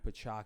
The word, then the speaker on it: Piciacchio: ufcb Instagram The Silver Fox of ufcb pako did I say it right awesome perfect I've been saying your last name wrong for like almost two years now and